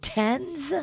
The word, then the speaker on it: TENS: thames oh really okay nice how do you pronounce it tens tens yeah t-e-n-s tens unit that's what the